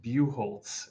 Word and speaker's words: Buchholtz: So So my how last name is pronounced Buchholtz, which is you apparently not the quote unquote real pronunciation of it, but how my family pronounces it. So, like, if you imagine the C is an E, like the word oh hue, but Bu.